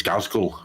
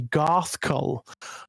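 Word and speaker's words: Ghazghkull: I always do it as Gazgul with the Gazgul, yeah. Gazgul, yeah. I used to as a kid, but apparently it is supposed to be Garthkull.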